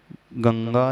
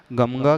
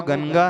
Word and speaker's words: गंगा: और पुनः गा है तो जो बिंदी है जिसे अनुस्वार कहा जाता है वह अनुसार किस रूप में उच्चारण होगा गमगा कहे गंगा कहे गंगा कहे गंगा कहे क्या कहा जाए चकि अंत में अनुस्वार के बाद ग है तो वह क वर्ग का है ग क ख ग